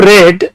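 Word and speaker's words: read: You should have রেড দ্য ট্রিটি। আমরা জানি রিড, রেড, রেড ভার্বের 3 নাম্বার ফর্ম, বানান সেম, উচ্চারণ ভিন্ন।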